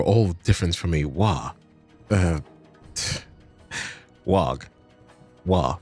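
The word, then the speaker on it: Waaagh: Wog. Wa, right, I'm sticking with Wa. So, yes, Wa is the correct way to say this.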